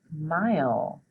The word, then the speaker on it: mile: is mile say it mile let's spell it m i o it's got that long I sound so m i l e mile okay our next word